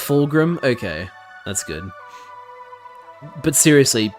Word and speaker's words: Fulgrim: Oh, it is pronounced Fulgrim.